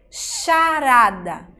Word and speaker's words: charada: O H é mudo, mas ele junto com outra letra tem o som de X. Charada.